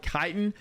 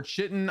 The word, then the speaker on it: chitin: craft within Brimstone Sands it is called chitin chitin or chitten I'm not sure how to pronounce it we're going to go with chitin because I think that's the correct pronunciation if I'm wrong I'm